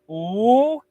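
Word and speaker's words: 五: And my mom would say, "Come on, wake up, go to school," and I would say, "Ooh." That's how you pronounce five in Chinese.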